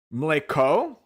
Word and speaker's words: mleko: Pronunciation. Mleko. With the E being short, like in bed.